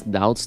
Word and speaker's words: doubts: translation so for doubts you don't pronounce the b the islands don't pronounce the S doubts don't pronounce the b